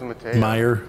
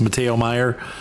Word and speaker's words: Matteo Meyer: pronounce his name it Mato Meer it's Matteo Meyer and he's got a